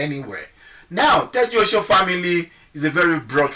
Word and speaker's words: Tejuosho: Now the Tejuosho, most people don't even really know how to pronounce that Tejuosho. It's Egba language. It's Tejuosho, which means take care of Osho.